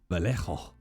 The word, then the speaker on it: Vallejo: do you pronounce it Vallejo valo sorry I got to do it in the accent I I in the language Val some Val pains